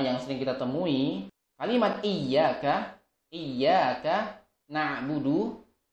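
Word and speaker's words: إِيَّاكَ: iya dadah nah Mundu yang seharusnya bertasydid padaku rupiah Iyakah yang bermakna adalah kepadamulah Ya Allah kami menyembah ada sebagian orang yang membacanya dengan menghilangkan pas hidupnya ya menghilangkan rotinya menjadi ia akan ia cara wudhu ini juga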